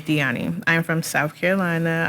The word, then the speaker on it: Diani: My name is Diani. How you spell it? How I spell it? Diani. Okay, not Diane. No, it is Diani.